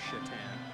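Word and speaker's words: Šatan: if uh if it was the North American pronunciation. It is Miruslav Citan.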